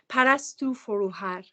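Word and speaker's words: Parastou Forouhar: And how do you, it's Parastu Foruhar? Is that how you say her name? Parastu Foruhar.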